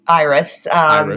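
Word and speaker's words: EIRIS: uh so it's actually it's pronounced iris and conflict risk network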